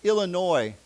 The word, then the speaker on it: Illinois: And then this one, remember, we don't pronounce the S. Illinois.